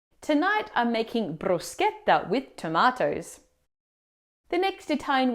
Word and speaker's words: bruschetta: As we've already seen in Italian, the ch combination always marks a hard c, never a shh like in English. So we say sket, not shet in brusqueta.